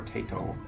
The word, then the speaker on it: Taito: Is it Taito or Taito? It is Taito.